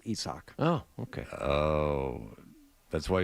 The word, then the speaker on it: Isaac: That's actually how you pronounce Tampa Bay third baseman. our intern's name also. Isak? It's Isak.